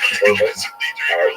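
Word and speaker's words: Churban: They tend to use the Hebrew term korban, usually pronounced the Ashkenazic Yiddish pronunciation korban, which ties the Holocaust to the great destruction of the temples in Jerusalem in ancient times.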